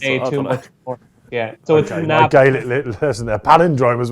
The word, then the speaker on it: Navan: But you're elongating the second A rather than the first A. So I would pronounce it Navan. But you're going Navan, yeah.